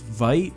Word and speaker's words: Vite: ladder I think it's cuz I called it V ramen last time when the pronunciation is white but that's on them